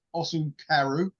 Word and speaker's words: Osukaru: So so the band, bit of a weird name, it's quite hard to pronounce. It's Osu Karu, believe it or not. Sound like a Japanese band, don't they?